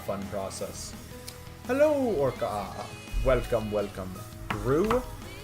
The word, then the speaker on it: roux: Roux? Not quite. Roux. That. It's a French word. I mean, I may be not pronouncing it correctly, but that's just how it's said here in these states.